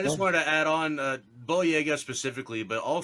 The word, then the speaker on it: Boyega: Jonathan, I think it's pronounced Boyega. Is that how you pronounce his name? Boyega?